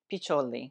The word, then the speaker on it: Piccioli: Piccioli.